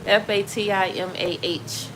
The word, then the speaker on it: Fatimah: Fatimah. When you have the H on the end, it's pronounced Fatima.